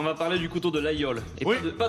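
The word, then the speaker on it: Laguiole: de laole et pas de la guole parce que j'ai remarqué que vous disiez la guole alors je me permets de reprendre la a g i o l e oui le G on le prononce pas globalement généralement d'accord d'accord c'est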